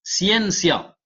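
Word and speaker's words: scientia: du mot latin il vient du mot latin siencia siencia comme ça se prononce c'està-dire euh le mot c'estàd que vous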